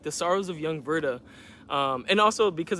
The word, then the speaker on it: Werther: the sorrows of young Verda um and also because it's German I do want to just point out that even though his name is it starts with a W it's pronounced with a V that is how German